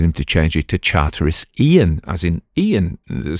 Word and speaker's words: Charteris: was easy to pronounce, Charteris, that's how he pronounced it, though he said that quite posh people would pronounce it Charters, but he said he also had Charteris, and Chartreuse.